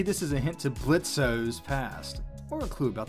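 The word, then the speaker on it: Blitzø: on the wall behind blitz's desk lamp it's Blitz the O is silent how many times do I have to tell you people as I was saying on the wall behind blitzo desk lamp we see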